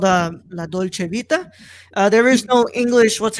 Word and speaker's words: La Dolce Vita: But yeah, today we're gonna talk about La Dolce Vita.